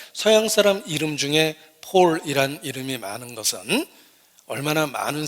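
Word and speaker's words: Paul: 바울을 영어로 폴이라고 발음하는데 서양 사람 이름 중에 폴이란 이름이 많은 것은 얼마나 많은 사람이 바울을 존경하는지를 나타내는 것입니다.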